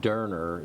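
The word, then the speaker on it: Döner: Derner is how you pronounce it, but it's D-O-N-E-R, and they seriously have the best pork chop in the free world.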